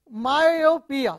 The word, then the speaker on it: myopia: so that is false though myopia is the three syllables look at the entry myopia so three syllables all right one the Y in myopia sounds like the Y in yard you see it is